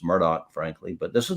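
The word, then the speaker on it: Murdaugh: a Murdoch or Murdoch however you want to pronounce it um it's Murdoch frankly but this is not a Murdoch podcast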